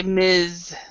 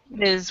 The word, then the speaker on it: Ms: here on this one we actually say Miz Miz Wallace M and it's kind